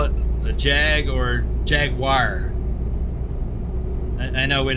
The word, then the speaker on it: Jaguar: In the US, we either we either call it a Jag or Jaguar. I know we not we don't pronounce it correctly. Jaguar. So, the second part of the word sounds more like wire.